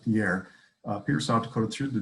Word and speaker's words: Pierre: You would pronounce it Pierre.